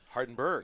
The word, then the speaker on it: Hardenberg: Hardenberg. Yeah, Berg. So hard G at the end.